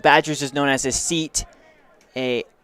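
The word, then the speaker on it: cete: a group of badgers is known as a seat a it's spelled c-e-t-e not like s-e-a-t but um so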